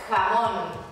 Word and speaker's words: jamón: A J, ja, tem o nosso som de R em português. Jamón. Sim, se escreve com J, mas para a gente o som é de R.